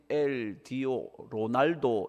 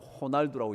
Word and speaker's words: Ronaldo: 근데 영어로는 RONALDO 로날도 이렇게 있는데 그게 로가 아니고 호날두라고 읽는 거 아시죠?